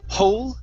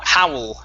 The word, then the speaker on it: howl: Instead of hole, this is ow, howl.